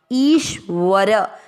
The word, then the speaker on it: ईश्वर: पहला चरण ई की मात्रा बड़ी है, ई इस तरह से बोल रहे हैं। इसके बाद आदर्श शंकर जी वाला और व पूरा ईश्वर, व और र दोनों अक्षर पूरे हैं।